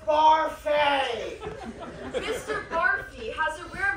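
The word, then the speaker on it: Barfée: Barfy. It's pronounced Barfay!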